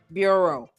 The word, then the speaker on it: bureau: Bureau. It's pronounced bureau.